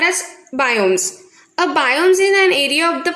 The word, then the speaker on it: biome: Any such ecosystem is called as biomes. See, the pronunciation is biome.